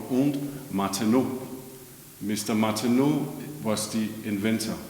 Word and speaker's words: Martenot: By the way, the first song is called Radio Martenot.